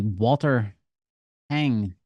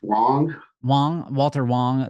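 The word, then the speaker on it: Walter Huang: Getting into the details of the Walter Hang crash. Is that how I pronounce his name correctly? It's Walter Wong.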